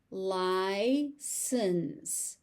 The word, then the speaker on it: license: License, license. So you notice there's a C in there that's pronounced as an S, and there's also an S in there that's pronounced as an S.